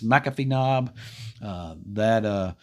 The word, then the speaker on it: McAfee Knob: It's McAfee Knob. There's a parking ride lot there at Interstate 81 at exit 140, and that's where it picks up. The parking lot up there at McAfee Knob tends to get jam-packed early on, and it's